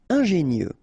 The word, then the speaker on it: ingénieux: Final X not pronounced, so I-E-U, I-E, nieux. Ingénieux. Ingénieux.